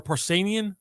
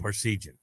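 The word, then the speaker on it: Parseghian: Uh the the telecast did not catch the moment and neither Keith Jackson nor Ara Parcanian I always I always forget how to say his name. Parcian.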